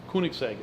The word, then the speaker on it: Koenigsegg: I mean, how do I pronounce this car again? Koenigsegg? Koenigsegg.